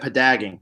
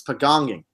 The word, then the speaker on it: pagonging: Or no, she said padagging. No, it's pagonging. Pagong. It's the name of the first season's tribe.